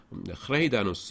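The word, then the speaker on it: Greijdanus: 여기 J가 영어에서는 자음인데 이게 지금 네덜란드어예요. 제가 네덜란드에서 석사 박사를 다 했기 때문에 말씀드립니다. 이게 A 발음입니다. A가 아니라 A 이렇게 되는데 저도 뭐 발음 정확하게 못해요. 그래서 이게 하나가 모음이에요. J 이게 붙어서 그래서 흐레이다누스 이렇게 나갑니다.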